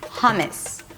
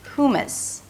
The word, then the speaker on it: hummus: So a lot of Americans pronounce it like this: 'hummus', 'hummus'. But the closest pronunciation to the original word would be 'huw-m's'. It's an H sound, than the 'oo' as in "food" - 'huw', and the second syllable is m's-m's.